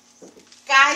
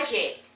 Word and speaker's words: calle: And double L and Y sounds the same.